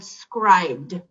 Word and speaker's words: Scribd: He taught me about an app called Scribd.